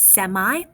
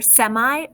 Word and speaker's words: semi: at the latin prefix semi first of all this prefix can correctly be pronounced either semi or semi and you'll hear it both ways both are correct so this latin prefix